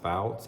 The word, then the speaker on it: Foutz: I think his name is Jacob, and I believe his last name is pronounced Foutz, F-O-U-T-Z.